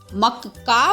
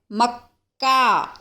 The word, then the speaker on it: मक्का: अगर हम मक्का को मक्का बोलेंगे तो यह उच्चारण सही नहीं है। और सही क्या है? मक्का।